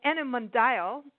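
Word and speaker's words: Animondial: tourism consultancy could called enim mundial ok I don't know if that's actually how you pronounce it but it's a n I am o ndia L like dial ok it's been established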